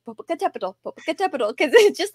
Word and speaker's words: Popocatepetl: It has seven syllables, which is one reason why it's so hard to say.